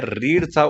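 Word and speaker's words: read: थोडासा फरक झालेला आहे रीडचा उच्चार या ठिकाणी रेड म्हणायचा आहे कारण इथे स्पेलिंग सेम असलं तरी उच्चार बदलणार रूपाप्रमाणे पहिलं रूप रीड दुसरं रेड तिसरं पण रेड त्यामुळे या अर्थाने रेड म्हणायचं मग दररोज वृत्तपत्त वाचले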